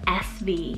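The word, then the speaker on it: Esvee: i've never heard of before it's the name sv spell e-s-v-e-e this could be a really great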